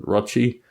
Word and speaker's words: Rochi: My man, Rochi, his name rhymes with crotch, also has severe pain